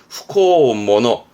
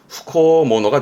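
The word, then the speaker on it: 不孝者: 근데 일본어의 경우는 불효를 부리는, 즉 불효를 저지르는 놈이다 해서 발음은 후코모노. 즉 한국어는 불효자처럼 해서 음독의 샤가 될 것 같지만 샤가 아니라 뜻으로 훈독으로 한다 해서 후코모노가 되겠습니다.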